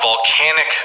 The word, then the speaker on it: volcanic: volcano and we have volcanic eruptions notice the difference in pronunciation this is a volcano but we have volcanic eruptions when the volcano erupts